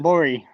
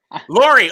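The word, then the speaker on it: Lurie: How do you pronounce it? Lori. Lori.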